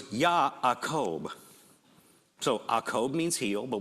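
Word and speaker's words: יעקב: Well, in Hebrew, the name is actually pronounced Ya'akob. There's actually an aleph. It's a little guttural letter that goes in between. Ya'akob. The J gets pronounced Y because it just does. Okay? So it's Ya'akob.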